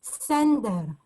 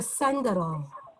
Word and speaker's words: Sender: tsar named alexander so the yiddish way of pronouncing it is sender or send it but that comes from alexander alexander center thank you my fiancee's